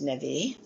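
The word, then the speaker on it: נביא: Like um ne um navi is pronounced nvie, which is a prophet.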